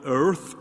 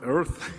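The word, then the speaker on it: Eaarth: this bill is that i can't quite get the burp right earth earth is it e-a-a-r-t-h is i think a must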